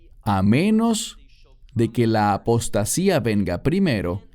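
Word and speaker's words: ἀποστασία: La palabra aquí es apostasía, en griego, que se pronuncia igual, apostasía.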